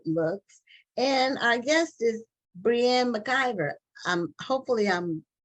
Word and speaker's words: Breanne McIvor: pronouncing your name correctly it could be Brianne but she will tell us what her how her name should be pronounced and we welcome her to Black on this matter TV thank you so much for having me and yes you pronounced it perfectly oh and you write